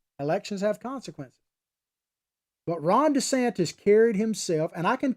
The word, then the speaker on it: DeSantis: talking about ron desantis i kept saying to santos instead of desantis and i had a